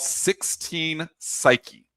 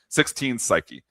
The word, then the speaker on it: 16 Psyche: It's called 16 Psyche. P S Y C H E E. All right, so the spelling of it, but that's how you pronounce it. 16 Psyche.